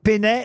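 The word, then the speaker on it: Peynet: Il y a même des musées Pénet au Japon parce que ces dessins-là sont devenus très très célèbres au Japon.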